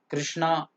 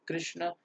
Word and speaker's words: कृष्ण: ठीक है पर उसका प्रोनंसिएशन तो कृष्ण कृष्ण ही रहेगा इट्स नॉट कृष्णा इटस कृष्ण इट्स राम ना कि रामा इट्स रावण तो शुड